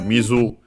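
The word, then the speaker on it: 水: First and foremost, we have Mizu, water in general, especially cool or cold, because there's also a separate word, you, accented, that one. Mizu is unaccented.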